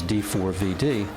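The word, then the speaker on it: D4vd: I pronounce it as D4 VD because the number four is pronounced four and the numbering.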